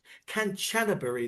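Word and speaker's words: Kanchanaburi: Hey, we've just been down to the bridge actually down in in Cananan Canchanbury, that's how you say it, is the actual town.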